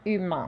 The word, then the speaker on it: humain: De tout être humain. This is also nasal, so you hear it in your nose.